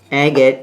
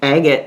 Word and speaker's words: agate: i got this at anchor it's just an agate it's pronounced agate not again i've been hearing people on youtube call this a gate from out of town yeah way out of